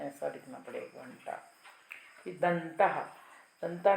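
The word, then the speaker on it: घण्टा: घंटा, घंटा में अनुस्वार के बाद ट वर्ग है, तो ट ठ ड ढ न, तो यहाँ पे न अनुनासिक आया तो घंटा, जो ब्रैकेट में लिखा है लास्ट में ऐसा लिखना पड़ेगा, घंटा।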